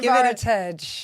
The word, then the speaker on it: Fovaritage: Fovaritage. Give it a bash. Fovaritage. My mother calls it Fovaritage. Fovaritage. So it's your favourite age with your ovaries stuck in the middle.